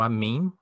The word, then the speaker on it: אָמֵן: poderoso E aí cria a palavra a mim pronunciado a mim mas é a palavra que nós usamos todos os dias falando quando nós falamos amém Oi e o